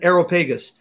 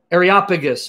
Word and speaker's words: Areopagus: his offspring areopagus areopagus i used to pronounce it aeropagus areopagus mars hill did you